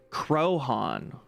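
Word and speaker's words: Croaghaun: The fictional big house situated on its slope is named after it, pronounced Crohan.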